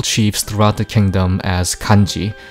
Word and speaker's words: 干支: It refers to tribal chiefs throughout the kingdom as Kanji, pronounced perhaps Kansi at the time.